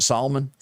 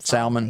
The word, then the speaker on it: salmon: Oreo and you pronounce it Solomon? Salmon.